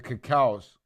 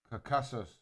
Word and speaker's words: Caucasus: That's it, the Cacaos. No, I'm saying it wrong. Caucasus Mountains.